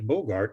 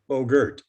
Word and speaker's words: Bogert: misrepresentations about who frank bogart really was and i apologize for mispronouncing it it's bogert those of us who